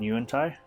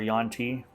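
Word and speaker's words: yuan-ti: mind flayers works in you and ty where yon T depending on how you want to pronounce it I love these sections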